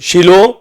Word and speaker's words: Shiloh: और शिलोह को लोग शिलवा भी कहते हैं, पर ठीक उसकी प्रोनाउंसिएशन जो हमें मिलती है इंग्लिश में शीलो اور اردو میں بھی